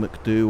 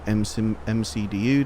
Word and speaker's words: MCDU: I've also got the wing McDo or MCDU, depending on how you want to pronounce that.